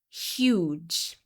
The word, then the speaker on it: huge: Huge. Not all the time, but most of the time, the long U sound begins with an additional Y sound.